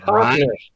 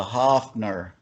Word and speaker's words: Hofner: Rhymes with Boffner. uh, it rhymes. Hoffner.